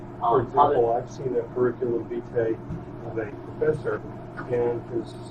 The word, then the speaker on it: curriculum vitae: There's also something called a CV, which is a curriculum vitae. Is that how you pronounce it?